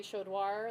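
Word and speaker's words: Chaudoir: My name is Commander Shodoir. That's spelled C H A U D O I R.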